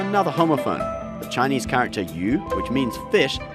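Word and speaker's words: 鱼: homophone the chinese character you which means fish sounds exactly like the chinese character that means abundance so the banner means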